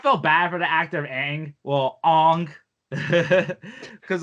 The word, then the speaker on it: Aang: that like that and the pronunciations of aang saka and they call him ong and soka like oh and um